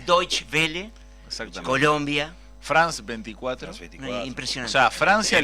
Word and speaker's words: Deutsche Welle: No pronuncio bien, ¿cómo es la alemana? Deutsche Welle. Deutsche Welle.